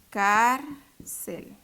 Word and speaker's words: cárcel: Cárcel. ¿Cuál es la sílaba tónica? Cárcel. Entonces, es la penúltima.